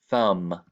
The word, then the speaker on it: thumb: short U, and then the M silent B combination that is the last consonant here. So this qualifies as consonant, vowel, consonant spelling pattern, and it makes the short U sound.